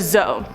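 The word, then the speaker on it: dzo: On to number 4, a zoe. This is spelled D-Z-O or D-Z-O.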